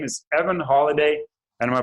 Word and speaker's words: Holladay: His name is Evan Holladay, and am I pronouncing that right? Holladay.